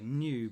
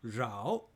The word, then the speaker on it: Nhieu: name too, which is spelt Nhieu. We normally would say New, but it's actually Rao Gotcha. because it's Vietnamese.